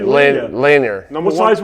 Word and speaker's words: Lanier: I've And seen him then Bob Lanier was Bob Lanier. Don't say Lanier.